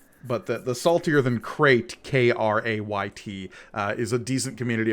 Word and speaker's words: Crait: stuff, there is a subreddit called Saltier Than Crate, as in the planet from The Last Jedi.